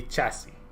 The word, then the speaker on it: chassis: Just don't pronounce the S. I would have to do research into that. That is one that I'm not 100% right now. Sure. Yeah. So it will be chassis.